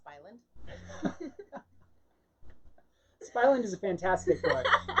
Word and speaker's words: Spy Island: It's pronounced Spyland.